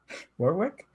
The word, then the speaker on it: Warwick: Now, like with you just saying that, now, Warwick? Go with that. That's the way it's spelled.